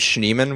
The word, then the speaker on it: Schneeman: if I spell it my last name is Neiman which is german for snowman it's not a big